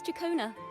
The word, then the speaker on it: Ciaccona: My name is Chakona, a wandering bard. Okay, I pronounce it quite rightly.